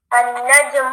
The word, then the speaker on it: النجم: Try not to put the too much emphasis on the jim, okay? النجم بعيد.